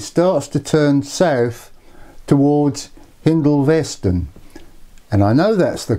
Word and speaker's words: Hindolveston: And when the line leaves East Junction, it starts to turn south towards Hindolveston. And I know that's the correct pronunciation because somebody that's lived locally all their lives told me so.